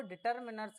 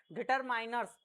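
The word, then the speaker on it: determiners: Quantifier डिटरमिनर्स है ना देखो कई जो लोग होते हैं वो डिटरमिनर्स की जगह डिटरमाइनर्स डिटरमाइनर्स शब्द प्रोनाउंस करते हैं लेकिन इसका जो सही प्रोनाउंसिएशन है ना वो है अपन का डिटरमिनर्स ठीक है आप भी आज के बाद सही बोलेंगे कि इसको हम बोलते हैं डिटरमिन िनर्स ना कि डिटरमाइनर्स।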